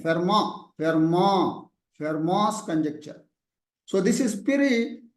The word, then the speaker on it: Fermat: Fermat's Educational Academy has put. Yes, sir. It is not Fermat's. T is silent. Fermat's conjecture.